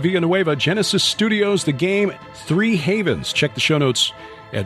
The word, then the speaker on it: HAV3NS: Havens, which, like Genesis, is spelled with the numeral 3 in there, where an E should be, HAV3NS, pronounced Three Havens.